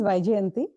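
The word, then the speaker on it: Vijayanti: And this is Vijanti. My name is Vijay Anti. Uh the easiest way to pronounce my name is alphabet Y alphabet J YJ.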